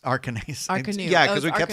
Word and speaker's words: Arcanus: It's spelled A-N-U-S. And it's Arcanos. Arcanus. Yeah, because we kept Arcanue.